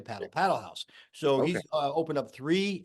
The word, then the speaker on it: Padel Haus: New York and I asked him specifically it's paddle house so you and I were at a we